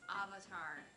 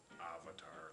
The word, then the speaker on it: Avatar: up because apparently it's avatar avatar like avocado yep let's see if